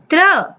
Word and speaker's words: त्र: दूसरा संयुक्ताक्षर है त्र। त्र से त्रिशूल। बच्चों, त्र अक्षर को जब हम उच्चारण करते हैं तो हमें दो व्यंजन वर्णों की ध्वनियां सुनाई दे रही हैं। त्र, त तथा र।